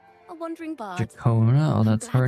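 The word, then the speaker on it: Ciaccona: My name is Jacona, a wandering bar. Jakona. Oh, that's her name is pronounced. Jacona.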